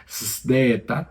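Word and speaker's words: ζῆτα: pero se pronuncia tal cual como lo estoy diciendo, Z, como si tuviésemos una S y una D juntas, ¿no? Zdeta, zdeta, Z.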